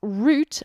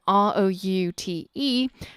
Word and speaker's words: route: little bit awkward because in British English we pronounce route R as in R o ute as route but that can also sound like route as in our oo team so from now on